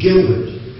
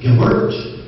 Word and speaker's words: Gilbert: You know, like, my name is Gilbert. But if you pronounce it Gilbert, it would sound funny to me.